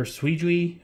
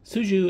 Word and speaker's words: Su Jiu: spelled S-U space J-I-U, and I always was calling it her Suijui or Sujui or whatever. Finally, I decided I'm going to put this into Google Translate and have it pronounce it. And I guess it's pronounced Suju. So nice and simple, Suju.